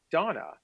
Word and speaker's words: Dona: Okay, our first guest for the show is Amy Rothstein, who's the founder of Donna.